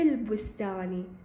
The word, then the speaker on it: البستان: هنا عندنا هذه الألف همزة وصل تكتب ولا تقرأ، ليش؟ لأن اجت هنا عندنا هذه الألف في وسط الكلام، إذا في وسط الكلام هنا عندنا هذا تكتب ولا تلفظ. في البستان في البستان، لاحظوا أنا هذه الألف ما لفظتها، هذه الألف ما تلفظ.